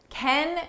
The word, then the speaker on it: can: for me I said can you just ballpark the cost for me can in this sentence is an auxiliary verb so we pronounce it unstressed and it sounds like kin kin can can you